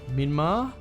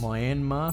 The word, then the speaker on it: Myanmar: pronounce it all right we'll go minma yeah people in place Myanmar sorry and I think